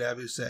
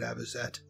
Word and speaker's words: avocet: parasitize other birds nest i will continue pronouncing it abuse because it looks like that's the way it should be even though she just correctly said abazette um great crested fly